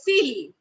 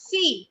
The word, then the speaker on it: fille: Now, wherever we have double L, like here we have in C, wherever we will have double L, it will be silent. We don't call it fille. Do we call it fille? No. We call it fee, like we have school fee.